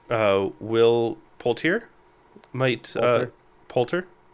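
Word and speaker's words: Poulter: will potier might uh polter I thought there was an i in there my bad there is uh it's just not pronounced or Ann cool um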